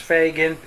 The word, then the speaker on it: Phagan: little mary fagan and her last name is pronounced fagin p-h-a-g-a-n a true story by mary fagan and